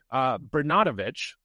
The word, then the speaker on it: Bernatovicz: So John Bernatovicz, that's how you say his name. Be very, very careful.